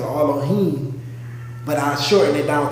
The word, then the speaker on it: Elohim: plural, Alahayim, not Allah, or it's Elohim. That's really how you say it, Elohim.